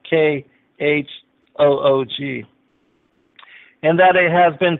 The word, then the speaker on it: chûwg: one will find that the Hebrew word is chûwg, C-H-U-W-G, or it's pronounced K-H-O-O-G.